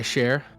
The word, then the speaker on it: Cher: No, like it's Sh- Shay from what we got from actual people who do speak the language. Yeah. We've been advised that it's like Shay.